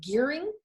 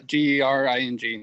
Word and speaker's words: Gering: So the place you're living in is pronounced Gering, is that right? Yeah, Gering, Nebraska, just in the panhandle of Nebraska.